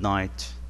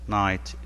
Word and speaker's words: night: عندما نقول good night, night, G وال H هنا لا تلفظ, night.